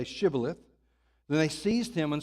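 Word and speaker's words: shibboleth: they said to him then say shth and he would say Sith for he could not pronounce it right they couldn't they couldn't say the sh sound all they could say was cilith they they couldn't pronounce the the the sh okay I'll explain that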